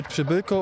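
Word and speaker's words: Przybyłko: Wie sie möchten, also ich heiße Kacper Pschibilko und ausgesprochen wird es einfach wie, wenn der Lehrer einfach in die Schule kommt und sagt Psch und einfach ein Bilko hinterher, aber die können mich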